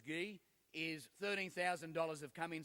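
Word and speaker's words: Gui: And already, Mick tells me that the donations that are coming in now, and I can tell Mark and Guy, it's spelled G-U-I, but it's Guy, is $13,000 have come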